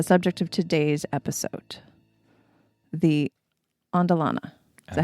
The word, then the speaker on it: Andelana: I know a lot of people say andelena, which is how I always said it until I heard you say it. Yeah, but there's no e at the end, right?